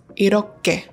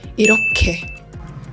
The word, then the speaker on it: 이렇게: for me was that a 히읗 coming before or after any of these consonants will always make that consonant become aspirated, to have air in it. I used to pronounce these words as 이렇게, 그렇게, 그렇다면.